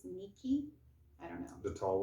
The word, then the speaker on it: Ni-Ki: But it's Ni-Ki, so I think it's Nikki is how it would be pronounced properly.